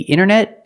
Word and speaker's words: internet: let's practice is the internet International very good that's right the internet is international remember when you say the word internet use the pronounce the with a long e the internet but this